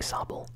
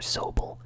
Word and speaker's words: Sobble: I like Sobble or Sobel. I heard people pronouncing its name both ways.